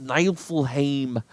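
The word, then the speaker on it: Niefelheim: I shame and then it's how it's pronounced night will Haim according to the old the the Scandinavian pronunciation so we're going with nine full Haim and we're gonna we're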